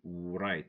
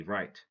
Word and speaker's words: right: Right, don't say right, say right. Rest, wrong, rap.